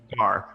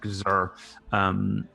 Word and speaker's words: Gar: Gar, not Gzer.